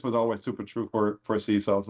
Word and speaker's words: CISO: CISO sounds like the best one.